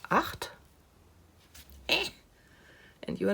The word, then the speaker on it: acht: It is pronounced acht.